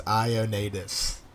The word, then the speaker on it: Ioannidis: Jason said, or Sneaka said, it's Ioannidis. That's how you pronounce that.